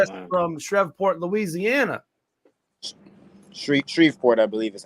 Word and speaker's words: Shreveport: Shreveport, I believe is how they say it. Shreveport.